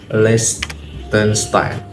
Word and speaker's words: Liechtenstein: Nah, negara selanjutnya akan kita bahas adalah Liechtenstein. Begitu nggak sih pronunciation-nya?